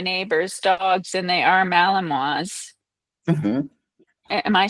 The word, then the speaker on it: Malinois: did meet my neighbor's dogs, and they are Malinois. mhm. Am I saying it right? Yeah, Malinois? Yeah. Malinois.